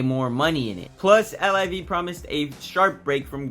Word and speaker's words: LIV: money in it plus Liv promised a sharp break from golf's fussy traditionalism starting with its name which when pronounced rhymes with give but it's actually the Roman numeral for 54.